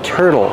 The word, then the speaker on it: turtle: this is a turtle pronunciation use the r sound like Burger tur tur and the T makes a fast d turd turd and the l e makes a sound o like table and little let's link the sounds